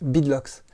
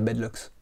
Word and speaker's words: beadlocks: Oui, parce qu'en anglais ça se prononce beadlocks, même si en français on a un peu pris l'habitude de dire bedlocks.